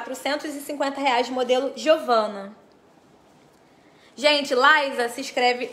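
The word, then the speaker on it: Lysa: promoção Essa semana tá Laisa se escreve l y s a escreve Lisa e vamos lá eu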